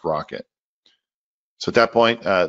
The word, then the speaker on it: rkt: of the spec called rkt pronounced rocket so at that point